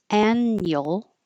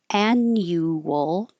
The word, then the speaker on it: annual: And this you can say with two syllables annual or with three syllables annual, but the u changes to be more relaxed instead of u y annual. So, annual or annual, the annual ugly potato day event.